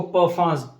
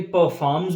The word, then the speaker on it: Parfums: वैसे ये जो इसकी प्रोनाउंसिएशन है ना, PARFUMS, इसको परफांस पढ़ते हैं, परफांस। लेकिन परफॉर्म्स भी पढ़ सकते हैं, परफॉर्म भी पढ़ सकते हैं।